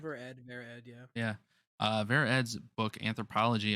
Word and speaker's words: Ver.Ed: Ver.Ed, yeah.